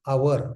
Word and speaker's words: hour: Ora in our oriental uh thought it was Hora and the Hora became our H O R. They they pronounce it our why don't they spell o U R?